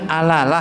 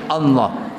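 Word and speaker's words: الله: Tulisan alif, lam, ha digandeng semuanya. Kan bacanya alalah itu. Oh enggak, itulah bacanya Allah.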